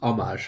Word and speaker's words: homage: to do him homage homage pronounced Amash hun when King Herod